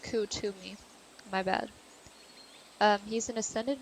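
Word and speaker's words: Kuthumi: I'm going to read you Kathumi. Oh, it's pronounced Kutumi.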